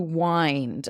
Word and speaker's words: wind: now when we have this word to wind okay I think of you can wind something up it is spelled this same as wind like a windy day but we pronounce it differently because it has a different meaning to wind something up to